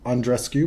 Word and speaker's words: Andreescu: that Bianca and rescue we now pronounce it undress cue because that's what we do Bianca said previously